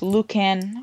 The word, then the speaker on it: Lucan: And it was located in, I think it's pronounced Lucan, Ontario.